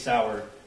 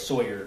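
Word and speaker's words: Sauer: he mentions the six sour he mispronounced sour as Sawyer which if you purchased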